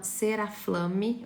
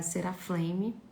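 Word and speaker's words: Ceraflame: Então, tem uma marca que chama Ceraflam ou o jeito certo de falar é Seraflame, tá?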